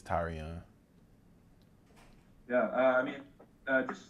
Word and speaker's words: Tyrion: called tyrion um it's actually tyrion that's how you pronounce it that's how you it's that's how you pronounce it tyrion like tyrion you know i mean